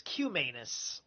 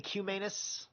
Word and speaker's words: Cumanus: It's Cumanus. It's probably Cuminus. So, if I'm going to be fair about anus, I got to be fair about Cuminus.